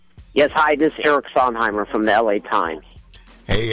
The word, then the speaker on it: Sondheimer: but maybe you can assist us on the pronunciation of your last name, please, sir. Yes, it's Sondheimer.